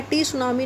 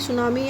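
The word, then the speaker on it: tsunami: और टी ये है, टी इसको साइलेंट है, टी सुनामी नहीं बोलते, सुनामी ही बोलते हैं.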